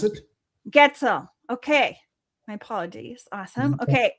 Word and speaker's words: Goetzel: Goetzel is the way to pronounce it. Goetzel.